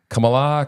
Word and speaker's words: Kamala: this to me is it Kam Kamala Kamala Kamala Kam Kamala what how what say malamala mamala